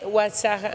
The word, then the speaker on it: Oaxaca: Pero No, el otro en es nuestra región Oaxaca. se lee Oaxaca. Oaxaca. Pero es Oaxaca. No, es Oaxaca. Ajá. Y alguien tiene que decirme, yo dije, ¿Oaxaca?